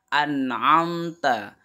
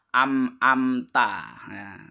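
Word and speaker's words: أنعمت: kemudian selanjutnya adalah lafadz an'amta an'amta Jangan sampai salah membacanya ya Jangan dibaca amta karena disitu adalah er Nun hurufnya adalah nunda di cara membaca yang benar adalah an amta itu yang artinya lafadz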